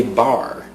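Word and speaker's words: barre: This is called a bar, which is spelled B-A-R-R-E.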